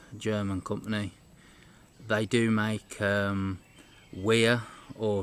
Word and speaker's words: Wiha: They do make Wiha, or Wiha as they like to pronounce its ratchets, and a lot of their ratchets can reach prices of about £130 odd, things like that.